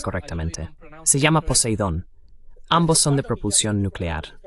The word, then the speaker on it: Poseidón: Sí, lo pronuncias correctamente, se llama Poseidón.